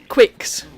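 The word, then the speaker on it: Qix: Right, so it's like Quicks, which I recently found out is actually the correct way to pronounce it. It's not Kicks as I thought.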